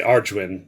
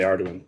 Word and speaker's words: Arduin: Well, some people say Arduin, but I say Arduin because D is in there somewhere.